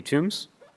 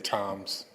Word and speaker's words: Toombs: Toombs. Mr. Toombs? Welcome to council, sir. Floor is yours, and you have 3 minutes. My last name is Toms. Just the H and the B is silent.